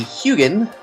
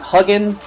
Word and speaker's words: Hugin: gonna bring out the hugin and that's how you pronounce that hugin as far as I remember it's not hugging it's not Hogan it's hugin anyway all right hugin's